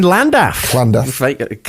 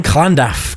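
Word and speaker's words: Llandaff: Uh, so born in in Landaflland. Oh, I'm so sorry. Let me do that again. Me and my Welsh pronunciation so bad. Born in Klandaf, Cardiff, which is of course in the south of Wales.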